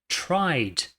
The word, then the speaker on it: tried: Tried. Então, presta atenção. Aquele E não existe, ele não tem interferência nenhuma na pronúncia, tá bom?